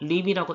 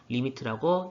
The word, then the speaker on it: lim: 그런데 이것을 그렇다고 림이라고 읽는 게 아니고요. 전부 다 읽긴 해요. 리미트라고 읽습니다.